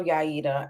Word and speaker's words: Yaida: And let me say that I love Yaida. I love Yaida. I'm telling you, thank you for correcting me on a pronunciation, because that is way better than what I was coming up with.